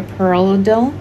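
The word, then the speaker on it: Parlodel: doctor prescribed me um perlido that's how you say it right here perello dill um and another name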